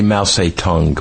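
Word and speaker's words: Mao Zedong: uh in 1920s uh Maong was in a revolution to topple Chen Kashek. I used to say Ma tongue but well you they changed the legal pronunciation.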